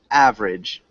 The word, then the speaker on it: average: Yeah, try it with 2 syllables. Average.